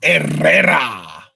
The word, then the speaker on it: Herrera: Well, in Spanish, H's are silent, so it would be Herrera.